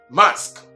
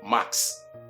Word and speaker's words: mask: Next is this PPE you find on your screen, which is mask and not max.